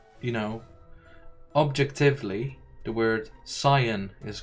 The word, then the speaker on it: Saiyan: about the pronunciation of Saiyan, because the original Japanese is Saiyajin, right? So it's definitely Sai, not Sei. But the dub made it into Saiyan for localizations.